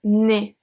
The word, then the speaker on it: né: It becomes né, N-E. Exactly the same pronunciation as your nose. Le nez, né, same pronunciation.